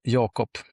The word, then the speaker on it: Jakob: Okay, so it's Jacob, is it? Have I been mispronouncing? Have I been mispronouncing you all day? In Swedish, it's Jakob. So it's. But I think it's Jacob in it.